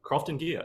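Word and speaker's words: Croftengea: jump out and say it um Angus uh crafting gear did I pronounce that right yeah thrifting gear yeah that's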